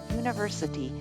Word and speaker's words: university: The article a would be used in front of words like united, university, and unique because they are all pronounced with the U sound of the consonant Y.